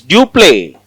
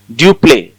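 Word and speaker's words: Dupleix: The governor of French East India Company is Dupé. Dupé X is silent.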